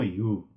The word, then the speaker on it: हिउ: बाँदरलाई अङ्ग्रेजीमा मङ्की भनिन्छ भने खाम भाषामा यसलाई घ्यामो हिउ भनेर भनिन्छ। जसमा घ्यामो भनेको रातो र हिउ भनेको बाँदर अर्थात् रातो बाँदर। यसमा युको पछाडि कोलोनको प्रयोग भएकोले युलाई ह उच्चारण हुने गरेर हिउ उच्चारण गर्ने।